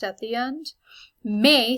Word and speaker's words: mai: Mai sounds exactly like English May, it's very similar.